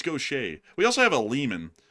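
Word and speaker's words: Gautier: That's Gaucher. It's not Gaudier. You would think it's Gaudier. But it's Gaucher.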